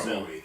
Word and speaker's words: Zooey: I really like, and Zooey Deschanel or Zoe Deschanel, I think she pronounced it Zoe.